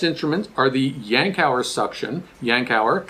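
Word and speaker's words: Yankauer: are the yankow suction yankow is how you pronounce this we have the plastic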